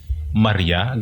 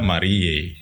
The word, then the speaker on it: Mariae: tapi kok sering dibilang Maria galio Maria gimana Yang benar sebenarnya itu I Ah yang benar kalau ejaan latin Pur itu itu Marie Legio dibaca Marie mungkin istilah penamaan mungkinnya